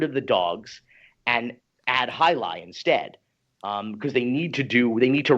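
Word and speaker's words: Jai alai: do you know what Jalala is?" And she's like, "Jalala?" Like, you mean highlight? Yeah, 'cause it's spelled Jaialai. So they didn't even know how to pronounce it.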